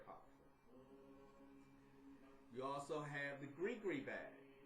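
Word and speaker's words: gris-gris: You also have the Gree bag, spelled G-R-I-S. G-R-I-S, G-R-I-S. I know it looks and it's spelled like it should be saying gris or something like that, but it's called Gree, like G-R-E-E, a Gree bag.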